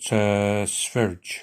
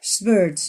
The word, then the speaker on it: Sverige: They pronounced it Sverige. Sverige, yeah, Sverige.